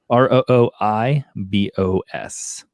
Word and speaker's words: rooibos: see i'm going by the uh wikipedia says roybus i can never remember how to do this um it's basically a how do you spell that r r o o i b o s okay it's it's from a rooibos plant yeah